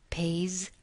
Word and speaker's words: pays: The S, the final S in these words is pronounced as a Z. Pays, buys.